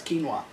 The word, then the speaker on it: quinoa: During his midlife crisis, my dad got really into pronouncing quinoa properly, which is the proper way to pronounce quinoa. I thought it was quinoa. Is that how they pronounce it in Canada?